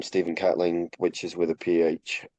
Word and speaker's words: Catling: That's Caitlyn. Yeah, which some people think that's how my name is pronounced as well. Good. Um, but it's if you type Steven Catling and you put Twitter,